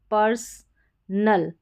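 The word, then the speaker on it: personal: फिर यहाँ पर PER को पर करके पढ़ा जाएगा, पर्सनल, पर्सनल। यहाँ पर जो O आ रहा है, ठीक है, ये S के बाद में इसको अ पढ़ना है, इसको अ पढ़ना है।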